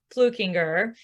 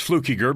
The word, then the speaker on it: Fluckiger: His name is Kellan Fluckiger, and I just said it wrong, right? There's no N in it. It's Fluckiger, but that's fine.